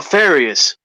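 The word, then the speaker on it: Farias: last name oh my last name is uh FAS okay farious okay so we have FIS of wicked comics on the program welcome we're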